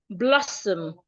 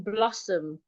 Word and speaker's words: blossom: So it's not blossom. No, it's blossom. The S remains a S, blossom. So I could say that the trees are in blossom.